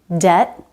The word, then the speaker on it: debt: There's another case where the B is silent. When it comes before a T. Debt, subtle, doubt. No B sound in any of these words.